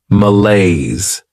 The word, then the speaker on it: malaise: Behavior next is malaise this word has two syllables and the stress is on that second syllable malaise this is not a